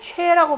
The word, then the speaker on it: 萃: 우리 보통 그 일반적으로 모인다라고 할 때는 취라고 발음을 하는데요.